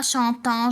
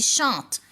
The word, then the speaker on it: chantent: Les enfants chantent en AN et à la fin je mets au verbe ENT et je prononce le mot chante. Je ne dis pas chantant, je dis chante.